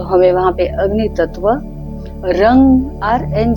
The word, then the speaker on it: रं: तत्व है तो हमें वहां पर अग्नि तत्व रंग आर एन जीी रंग शब्द का उच्चारण करना है इसके ऊपर छाती के मध्य